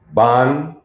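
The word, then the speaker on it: בן: That would be pronounced in Hebrew as ban, and it means son.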